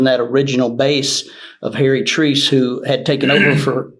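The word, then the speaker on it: Treace: Treese is how you say his name.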